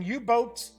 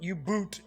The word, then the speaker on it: U-Boat: Games will be releasing U-Boat, not U-Boot, it's U-Boat, the board game. I have heard some people talking about this game is pronounced U-Boot. It is not. It's just the German way of spelling boat, folks.